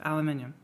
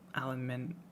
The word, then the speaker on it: aluminium: That metal, aluminium. Do you still have the extra I? Because if not, then it makes sense, and you pronounce it aluminum.